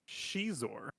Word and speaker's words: Xizor: So apparently his name is Shizor. Shizor. Well, isn't an X pronounced like a sh in Chinese? In some words, yeah, it's pronounced a Z, like that.